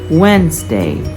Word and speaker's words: Wednesday: scenario the next is the letter D it can be silent e for it is following words Wednesday handsome sandwich and it can